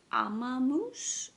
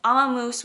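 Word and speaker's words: Ömmumús: And then the last thing, I actually went to, I believe it's pronounced Amamoose, which I feel like is like grandma mouse, because their logo is like a mouse knitting with like a little like granny bonnet.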